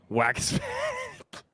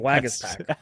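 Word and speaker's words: Waguespack: don't know who it is um what hey pronounce that guy's name Jerry Jacob wagas pack wagas pack no it's that's his name wagas pack it's still funny name or not it's a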